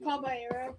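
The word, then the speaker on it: Caballero: We got a Jose Cabalero. How do you say that? Cabaya.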